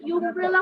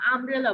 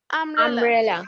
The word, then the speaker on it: umbrella: তাহলে এটা কি ইউমব্রেলা বলি না আমব্রেলা বলি? Umbrella. আমব্রেলা বলতে আমরা আ বলি না? আ বলি কিনা?